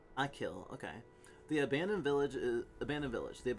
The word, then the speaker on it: Achill: It's part of the County Mayo, one of the 5 counties in the province of Connacht, pronounced Achill. Achill, okay.